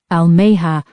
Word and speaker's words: Almeha: Almeha rhymes with Amanda.